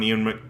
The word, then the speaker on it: Ewan: Yeah, I always said Ewan, He's out of and my then league. Ewan McGregor. and then everyone's like it's Ewan, and I'm like, oh, okay. I guess I'll pronounce it correctly from now on. But I've been saying it wrong for years.